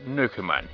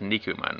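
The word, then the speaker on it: 肉まん: Okay then, how about Nukuman? You like those, right? 好きでも食べ物の名前なんてやだ。 It's pronounced Nikuman, right? How about...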